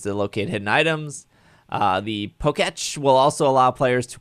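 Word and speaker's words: Pokétch: How do you say it? Poketch, Poketch. That's a bad Poketch. name. like Etch a Yeah, Sketch. it's like, yeah. The Poketch.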